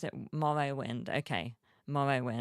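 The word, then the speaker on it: Morrowind: someone needs to write the Game Morrow mind pronounce it Morrow wind okay Morrow wind can't wait to see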